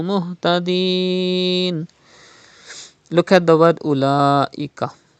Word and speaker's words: أولئك: Look at the word أولئك. There is Hamza after Khada Zabar. It is Madde Muttasil. You have to stretch up to 5 harakat.